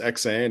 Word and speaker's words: EksAyn: they get off that you said it perfectly it's xan and I got to